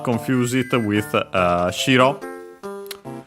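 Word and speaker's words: 白: By the way, do not confuse it with shiro. That one accented on the first syllable, so high-low, which is the word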